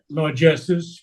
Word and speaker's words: largesse: Largesses, yes. Okay. In the French word is very clear, largesse.